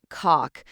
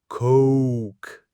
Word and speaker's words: Coke: The trick here is that O diphthong sound in Coke. It's not just a short O, it's more like Coke. Like you're really stretching it out, almost like saying cool, but with a K sound at the end.